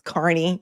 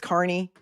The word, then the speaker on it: Kearney: Could anybody in Massachusetts learn how to pronounce Carney? It's not hard. It's Carney. You all know that it's Carney.